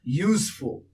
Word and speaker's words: useful: Because the very beginning of the pronunciation useful U as if U and H coming together.